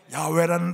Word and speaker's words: 야훼: 야훼라는 단어를 사실은요 발음을 잃어버려서 사람들이 읽을 수가 없었습니다. 읽지를 못했어요. 근데 근간에 이제 학자들의 언어 학자들에 의해서 야훼였을 것이다 이렇게 찾아진 거예요.